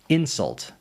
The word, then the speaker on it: insult: In a lot of two-syllable words, if you emphasize the first syllable, it makes it a noun, and if you emphasize the second syllable, it's a verb. first syllable, noun, second syllable, verb.